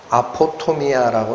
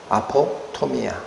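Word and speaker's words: ἀποτομία: 근데이 엄위라는이 단어 헬라어로 발음이 어떻게 나는 단어냐? 아포토미아라고 나는 단어입니다. 아포토미아.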